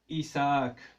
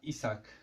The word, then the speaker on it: Isaac: j'aime bien bah c'est mon prénom Isaac Isaac et pas sac c'est très important de